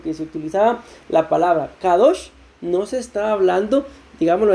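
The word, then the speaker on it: קדוש: el lugar k2 sin usar solo se dice kadosh y cuando se utilizaba esa palabra se entendía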